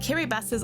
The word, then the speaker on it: Kiribati: And yes, it is pronounced Kiribati, that's how it's pronounced in the local language Gilbertese.